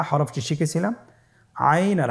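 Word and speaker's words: عين: আইন হরফটি উচ্চারণের সময় অবশ্যই 3 আলিফ টেনে পড়তে হবে এবং আইন হরফটি বারিক হরফ, পাতলা করে পড়তে হবে।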